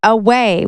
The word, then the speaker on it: aweigh: And basically what the title means, it says away, which is spelled a wii gh. I thought it was spelled a w a y.